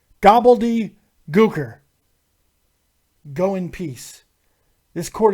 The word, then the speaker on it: Gobbledy Gooker: and that was the third thing you can pronounce his name correctly gobbledy er go in peace this Court is adjourned we'll